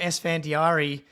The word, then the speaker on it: Esfandiari: of a curveball and so we're welcoming sandari which I was supposed to ask you if I was going to pronounce that correctly before we hopped 10 out